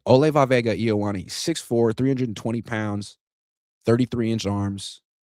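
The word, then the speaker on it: Olaivavega Ioane: It's like a 5-syllable first name. I just call him Vega, but it's Ole Vavega Ioane. Ole Vavega Ioane, 6'4", 320 pounds, 33-inch arms.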